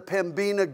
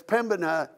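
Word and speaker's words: Pembina: went up to the pimina gorge and got quickly um corrected that it's Pema and most people don't even pronounce the b in it Pema and so there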